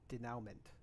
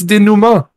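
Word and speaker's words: dénouement: you spell that it's it's spelled like denouncement denouement d e yeah i'm pretty sure it's a french word it's dinuma i was like i'm not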